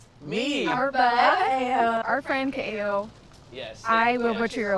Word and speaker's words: Ka'eo: So we definitely accent the Ka'eo. Did I say it right? As if you're doing like uh-oh, like uh-oh. Ka'eo. Yeah, Ka'eo.